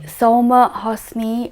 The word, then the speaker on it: Soulma Hosany: game what's there and we are joined by soma hosni who is a careers advisor good morning i hope i pronounced your name correctly yes you have